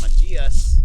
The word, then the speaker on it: Machias: At the other border, it's pronounced Machias.